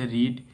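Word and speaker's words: read: অফ টু a farmer তারপর দ্বিতীয়টা দেয়া রয়েছে রিড হ্যাভ রিড এখানে তোমাদের হ্যাবটা দেয়া রয়েছে এখানে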